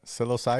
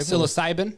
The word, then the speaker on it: psilocybin: Russia so silos Simon how do you say that psilocybin psilocybin yeah psilocybin yeah psilocybin is uh now